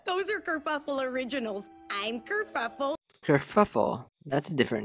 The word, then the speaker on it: Kerfuffle: I'm Kerfuffle. Kerfuffle. That's a different name. I'm Kerfuffle, spelled like it sounds with a double for the fuff.